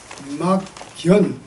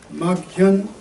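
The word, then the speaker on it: 莫見: 차이가 있는데, 자, 이걸 우리가 아까 이게 막견, 근데 여기서는 막현입니다. 그게 견자로 발음해도 좋고 현자로 해도 좋은데 여기서 현자로 읽을 때는 나타나, 내가 본다는 뜻이 아니라 나에게 나타난다. 그러니까 이게 지금 막현호은 이게 이 은자가 은둔한다는 뜻이죠.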